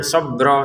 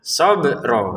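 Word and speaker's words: صَبْرًا: sob seperti itu ya jangan sobro sobro sh sobro salah sobro salah juga maka dipantulkan sempurna shro ya sobro untuk ron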